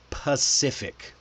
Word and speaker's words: Pacific: The the word is pacific. Pacific. This one is like a buffet because it has both C pronunciations.